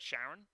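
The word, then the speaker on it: Charon: there next to pluto you've got sharon um said said like the name it's spelt like the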